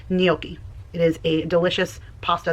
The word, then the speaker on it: gnocchi: I know she says gnocchi, but the proper pronunciation is gnocchi.